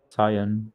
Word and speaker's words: cyan: I've raced with another guy and there's 4X Racing Blue and 4X Racing Cyan, or Oh yeah, yeah. however the fuck you pronounce that. It is cyan, And yeah.